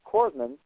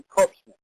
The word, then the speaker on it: corpsman: but common Day words such as Corman he can't even say it properly says a corpsman now this guy should